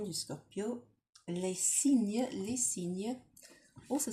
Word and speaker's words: cygne: Cygne. Cygne. Cygne. Cygne. Cygne. Cygne. So, c'est aussi un nom masculin. So it's also a masculine noun. So, un cygne could sound like you're saying a sign, or in French it